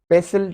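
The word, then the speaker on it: pestle: पेसिल, पेसिल, T silent है।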